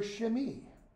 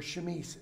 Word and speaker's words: chemise: Her shift, or to use the French, her chemise, or chemise, if you want to pronounce it American-y, okay?